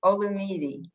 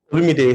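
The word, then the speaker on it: Olumide: cool okay how about olumidi i'm not saying that right you could help me and say it correctly only need lumi day so you got it closed the first time ah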